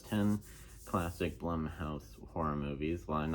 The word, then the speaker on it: Blumhouse: movies um but um actually is to pronounce the bloom house but I realize I realized that it was actually accounts Blum House but yeah so yeah